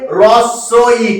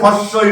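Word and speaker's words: হ্রস্ব ই: তাহলে এর উচ্চারণটা কি হবে? রস্য ই, কখনোই হস্যই নয়। হস্যই কেউ কিন্তু বলবে না, কারণ হয়ের সঙ্গে রফলা যুক্ত হলে হ সাউন্ডলেস হয়ে যায়, সেখানে র উচ্চারণটা হয়।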